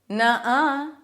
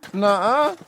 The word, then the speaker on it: nuh-uh: Nuh-uh. Or you can also go further back in your pronunciation, more of an sound. Nuh-uh. Either one is fine, and that's how it's pronounced.